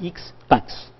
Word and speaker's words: expat: Et expat, c'est expat. Prononcé à l'américaine, expat.